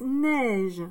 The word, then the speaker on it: neige: Espace, neige. Donc, le N. Le E et le I. Ça fait le son E.